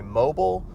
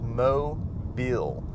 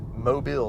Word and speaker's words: Mobile: from they always mispronounce it and they'll say mobile or some other strange pronunciation but it is mo bill mobile say it with me mobile so mobile is